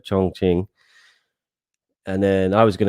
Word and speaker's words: Chongqing: I pronounced it right, Chongqing.